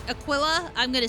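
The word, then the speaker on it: Aquila: I think you're pronouncing it right. It's not a It's not a Aquia or Aquilla or anything. It's a Aquilla.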